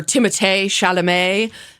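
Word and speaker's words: Timothée Chalamet: host have been he and um Timothy or Timo shalam is how is the appropriate way to pronounce his name um who like my my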